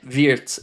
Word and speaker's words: Wirtz: Craig said Suzanne Burke, how are we pronouncing it's Viet apparently? Aar. So it's like it's V E e or zed. Viet is is the way I I was told to pronounce it.